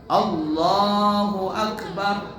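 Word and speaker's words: الله أكبر: Salah Bagaimana bacanya Salah Umpama a-nya dipanjangkan Allahu akbar Allah ya kalau ada orang baca Allah a-nya panjang maka cara bacanya Salah kalau cara bacanya Salah lah salatnya juga tidak sah atau bnya panjang Allahu akbar nah ini pernah dengar enggak orang begitu perah nah barnya panjang padahal enggak boleh panjang Allahu akbar dia baca panjang Allahu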